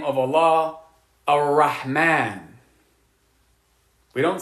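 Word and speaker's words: الرحمن: this make sense so when you have a a sun letter coming after the definite alif Lam you're not going to pronounce the lamb like when we say the name of Allah a Rahman we don't say elrahman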